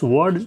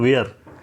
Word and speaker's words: were: कुछ लोग इसको कहते हैं वाज, और इसको कुछ लोग कहते हैं वाज, और इसको कुछ लोग कहते हैं वेयर, जबकि एक्चुअल प्रोनाउंसिएशन ऊपर वाले का होता है वॉज। क्या होता है, वॉज। Okay, was. और नीचे वाला एक्चुअल प्रोनाउंसिएशन, जो सही प्रोनाउंसिएशन है, वो होता है वर, ठीक है। तो इसको हम पढ़ेंगे वॉज, इसको हम पढ़ेंगे वॉज, और इसको पढ़ेंगे वर। वाज या वेयर नहीं पढ़ेंगे।